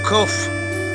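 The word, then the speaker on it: קוף: இந்த எழுத்துக்கு பேர் கோஃப். கோஃப். கோஃபுடைய வேல்யூ 100. கோஃபுடைய எண் மதிப்பு 100. கோஃபுடைய சவுண்டு கியூ லைன். கியூ லைனில் செயல்படுகிறது. Queue for queen. கோஃபுடைய உச்சரிப்பு தமிழில் காக்கா, கிக்கி, குக்கு என்ற வரிசையில் தான் இதுவும் செயல்படுகிறது.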